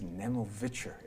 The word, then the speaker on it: Nemovicher: It's taken me years to learn how to properly pronounce that. Did I do it right? No. No? See, even then. It's Nemovicher.